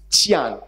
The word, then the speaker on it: Qian: The correct pronunciation is Qian. Qian. Sorry. Qian. Qian. Okay, it's palatalized affricate. Qi. And then it's not a, it's pronounced e in this case, in this kind of syllables, in this kind of endings.